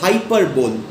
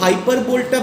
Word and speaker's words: hyperbole: এরপর চলে যাচ্ছি আমি পরের ফিগার অফ স্পিচ, যেটা হচ্ছে হাইপারবোল। মেটোনিমি সিনেকডকিটা একটু কঠিন ছিল, সেই তুলনায় কিন্তু হাইপারবোলটা বোঝা অনেক সহজ, বানানটাও সহজ, HYPERBOLE, হাইপারবোল, HYPERBOLE, হাইপারবোল।